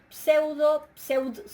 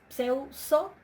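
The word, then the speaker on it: ψεύσω: Para una dental, pseudso, es pseuso, la dental cae ante la sigma.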